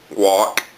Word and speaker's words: Wouk: talk about is herman walk i might be pronouncing that wrong his last name is spelled w-o-u-k my favorite book of